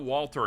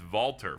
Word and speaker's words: Valter: I've learned that it's not Walter, it's Valter for this guy, at least in how they're pronouncing it in English.